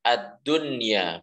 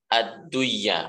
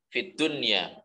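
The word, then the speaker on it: الدنيا: Kadunya, bacanya ad-dunya, bukan ad-duya, bukan tapi ad-dunya. Rabbana atina fid dunya hasanah. Bukan fid duya tapi fid dunya.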